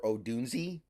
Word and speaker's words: Odunze: Congratulations to Rome Odunze, or Odunze. Apparently that's how you pronounce it.